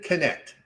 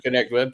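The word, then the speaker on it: Knecht: Dalton Connect. Dalton Connect.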